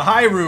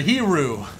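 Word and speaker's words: Hiryu: I'm not going to pronounce it, but I think it's spelled H-I-R-Y-U. So sound that out and say it to yourself, because that's what this carrier is, I believe. Wait, never mind. I'll try to pronounce it. The Hiru or the Hiru.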